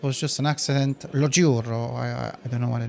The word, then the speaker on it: giuro: Ah, giuro. In my language, it's very, very similar. He swears. Only we use a J instead of a G and I, but you pronounce it the same.